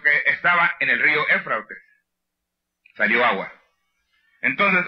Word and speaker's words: Éufrates: Ya les dije ahorita, ¿cómo se pronuncia la palabra de ese río? Éufrates.